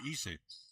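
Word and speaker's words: Eisa: Spells E-I-S-A, pronounced E-S-A, Issa. They told me.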